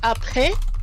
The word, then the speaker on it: après: Whenever we see an E with that accent grave, it's going to usually be pronounced more like eh.